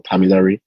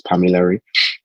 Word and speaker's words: Pamilari: My name is Pami or Pamilari, the full name, because I know Nigerians like to pronounce the full name, so it's Pamilari.